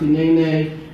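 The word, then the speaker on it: הנני: Hinene is pronounced Hinene, and it means "here I am," and it is most used when God personally calls someone to do something difficult and important.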